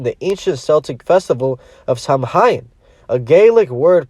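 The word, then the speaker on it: Samhain: its roots in the ancient Celtic Festival of samhan a GIC word pronounced sawin it a Pagan religious celebration to welcome the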